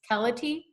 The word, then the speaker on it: Keleti: and I will start by apologizing for mispronouncing your last name it's pellet II yeah okay thank you so much